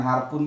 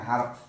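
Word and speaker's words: حرف: Ada yang namakan harpun, harf. Bacanya harf.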